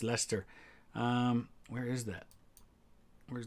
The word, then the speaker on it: Leicester: for my american friends it is not pronounced lychester or leicester it's lester um where is that